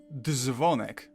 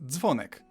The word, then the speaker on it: dzwonek: It's not dzwonek, but dzwonek. I suppose it could be considered a harsher ts.